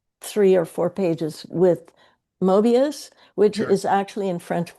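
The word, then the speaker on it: Moebius: So, um, I've just I I've just translated a section where he he spends three or four pages with Mobius, which is actually in French pronounced Muabius.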